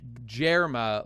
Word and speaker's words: Germa: something cool happens here it's pronounced JMA like Germany why did I just